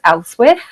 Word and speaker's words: Ealhswith: We know her name was Elswith. It's a difficult one to pronounce. So it's pronounced so many different ways because it's EALHSWITH, a really difficult one.